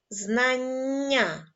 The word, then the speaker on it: знання: як звучить це слово знання в цьому слові ви теж почули подовжений приголосний на письмі він буде позначатися двома літерами н складемо звукову схему слова